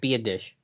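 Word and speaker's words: Biadasz: my civic duty to let you know Tyler be a dish. Be a dish. That's how you say it. Be a dish.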